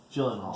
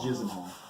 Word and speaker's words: Gyllenhaal: Gyllenhaal. Gyllenhaal. It's a soft G. I think it's Gyllenhaal. Gyllenhaal, maybe? Like Gilliam. Like Geely? Like Geely, maybe. I like that.